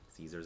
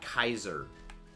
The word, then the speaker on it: Caesar: name should be pronounced Kaiser because that's how the actual name was pronounced back in Latin because it only ever made the hard C Sound not the S sound and uh AE was